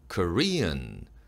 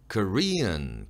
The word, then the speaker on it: Korean: 형용사형 Korean 발음할 때는요. 이어에 억양을 넣고 끝소리는 비음으로 처리하는 거예요. Korean, Korean, 콧소리가 나죠?